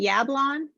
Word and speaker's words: Yablon: that's a great i know um i say yablon but i say yeah it's a butchered like polish name so who knows how